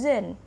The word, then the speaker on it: jeune: Tulisannya jeune, dibacanya jeune. Elle est jeune. Jadi pelafalannya sama ya.